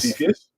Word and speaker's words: Cepheus: Again, am I pronouncing that right? Cepheus, Yep, yes. Cepheus. It is Cepheus, Yeah, okay.